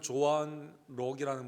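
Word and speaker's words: Joan Kroc: 그분은 조한 록이라는 분인데, K가 묵음이라고 하더라고요.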